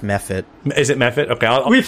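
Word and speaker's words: mephit: you turn around and you see an ice me fit waving at you do you all see that and it's pronounced meh fit is it method okay we've historically mispronounced it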